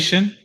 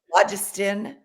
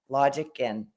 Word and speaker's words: Logician: Logistician? Logician. It's Logician. Logician.